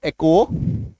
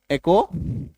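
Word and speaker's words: echo: ई सी एच ओ, एको, ठीक है, एको।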